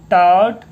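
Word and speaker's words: taught: ही TAU से टा, GHT से टा। अब बोलोगे GH कहाँ चला गया? अरे भाई ये GH जो है आपका साइलेंट हो गया। ही टॉट अस, अब यू से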